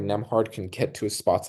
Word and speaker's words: Nembhard: you Nemhard.